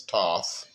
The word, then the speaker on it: Thoth: Uh, it's Thoth. Some, uh, people pronounce it as Toth.